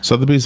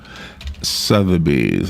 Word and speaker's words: Sotheby's: Sotheby's, am I saying it right?